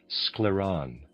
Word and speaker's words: Scleron: We mainly treated this patient with our scleron readers aside spelled s c l e r o n scleron and a reader aside.